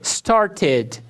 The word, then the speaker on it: started: O ED é pronunciado como ID quando o verbo termina com sons de T ou D. É exceção. Exemplos. Study, D. Studied, studied, studied. ID. Start, som de T. Started, started.